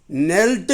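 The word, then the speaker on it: knelt: வார்த்தையினுடைய ஒரு சிறப்பு என்னன்னா கே வந்து உச்சரிப்பு இல்ல அது சைலெண்ட்டா இருக்கு ஓசை இல்லாம இருக்கு ஆக அதை வந்து ஓசைப்படுத்தி சொல்லக்கூடாது நீல் கேக்கு இக் சவுண்ட் சேர்த்தக்கூடாது இக்கு சவுண்ட் சொல்லாம நீள் நெல்ட் நெல்ட் இதனுடைய அர்த்தம் மண்டியிடுதல்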